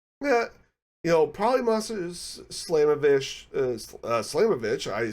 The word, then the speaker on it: Slamovich: show up in there I'm thinking uh Masha slamovich and um you know probably Mas slamovich slamovich I said it right the first time uh